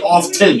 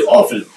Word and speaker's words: often: of all you're sure the 10 often is silent you don't say off 10 you say often secondly when do I